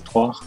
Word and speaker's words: trois: I think you're thinking about 3, which is trois.